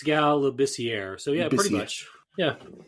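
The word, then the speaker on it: Scal Labissière: Um Lucas might know his name better than Scal Leasier. Did I say it right? It's Scal Labier.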